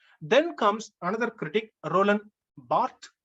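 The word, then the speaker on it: Barthes: comes another critic Roland Bart in French it is pronounced Bart in English we say Roland Barts or rol D isent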